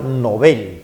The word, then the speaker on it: Nobel: la razón que de deberíamos pronunciarlo Nobel porque el apellido es Nobel y así se pronuncia en inglés y en castellano también pero nos hemos acostumbrado